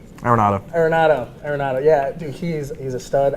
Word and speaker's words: Arenado: You know, they got Reynolds and Ariano. How do you say his name? Arenado.